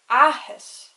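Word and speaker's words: áthas: I would pronounce it like ahis. So see how I put a lot more emphasis on the first A because it has the Fada than the second one.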